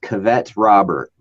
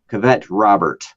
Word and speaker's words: Cavett Robert: People by a man, I think it's pronounced Cavett Robert is his name. Cavett Robert.